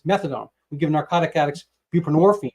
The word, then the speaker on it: buprenorphine: we give narcotic addicts buprenorphine which rhymes with morphine Suboxone um and the